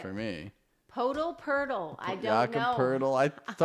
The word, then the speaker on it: Poeltl: Purtle. I don't Jakob know. Purtle. It's always been Purtle to me. I agree. I said Purtle, and somebody made fun of me.